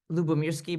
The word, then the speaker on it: Lyubomirsky: So let me kind of show you this is my title, and my name, by the way, means Lyubomirsky. By the way, Sarah, you pronounced it so perfectly.